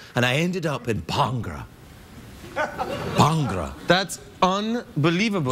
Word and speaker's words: Bhangra: How do you know the Bhangra? I just got into it recently. It's pronounced Bhangra, not Bhangra.